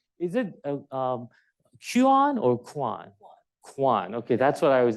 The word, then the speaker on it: Cuan: Cuan. Okay, that's what I was. The Irish spelling is pronunciation is Cuan.